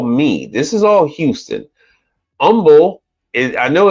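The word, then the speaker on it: Humble: this is all me this is all Houston Umble I know it's hu MBL e but it's pronounced Umble Texas that is north side at the United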